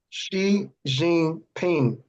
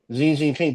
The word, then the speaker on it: Xi Jinping: Xi Jinping. Xi Jinping, bro.